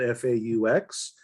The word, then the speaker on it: Faux: as maggie mentioned fox and the last name is spelled f-a-u-x if you know french you know that it could be pronounced as faux which means fake which